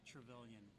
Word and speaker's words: Trevelyan: Trevelyan, or is it It's Trevelyan. So. Trevelyan? Yeah. So Trevelyan. Yeah. Alright. And then. Yeah. So just kind of the same emphasis in all syllables.